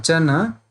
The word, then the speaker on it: chana: So you have to see here, chit is a is not there at the end. So once you will pronounce, you will say chit, and chana has the a. So you have to provide a.